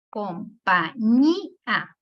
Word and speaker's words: compañía: Compañía. ¿Cuántas sílabas tiene? 1, 2, 3, 4 sílabas. ¿Qué es? Su sílaba tónica va en la última penúltima. Compañía. En la ñi. La sílaba ñi es la penúltima.